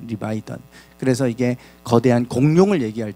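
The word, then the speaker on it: לִוְיָתָן: 히브리어 발음은 리바이던입니다. 리바이던.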